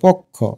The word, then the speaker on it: পক্ষ: আমরা কিন্তু পকে উচ্চারণ করি ও এর মতো পক্ষ। একটু আলতো করে উচ্চারণ করলে এটা পটা পোর মতো হবে।